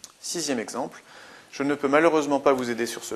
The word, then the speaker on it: malheureusement: Sixième exemple, je ne peux malheureusement pas vous aider sur ce point. Malheureusement, on a une prononciation en EMant, donc une terminaison d'adverbe qui comporte un seul M. Malheureusement, E, M, ENT.